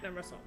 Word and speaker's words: hermoso: Ah, hermoso, sorry. Sometimes I concentrate so much I keep wanting to pronounce the H, and I know that's wrong.